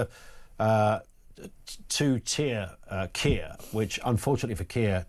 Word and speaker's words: Kia: uh two tier uh KIA, which unfortunately for KIA, two tier rhymes with Kia.